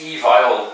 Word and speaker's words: Evile: called far worse but it's evil like email i think so yeah